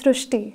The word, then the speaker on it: Srushti: We have heard of Srushti, but this is a very unique name, Srushti. So in Marathi, the word Ri is pronounced as Ru. So that is why the pronunciation goes Srushti.